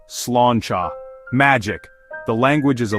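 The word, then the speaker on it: sláinte: It's pronounced slanchcha.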